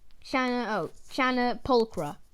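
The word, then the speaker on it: Channa pulchra: Pronunciation, Chana pulchra.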